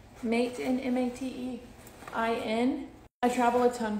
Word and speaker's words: Matein: I believe the brand is pronounced Matein. Matein, M-A-T-E-I-N.